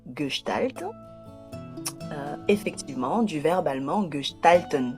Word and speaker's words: Gestalt: Alors pourtant ça s'écrit G e s t a l t. Mais ça se lit Galt.